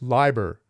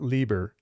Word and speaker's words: Leiber: Another one that I looked up was Fritz Leiber, not Lieber, Leiber.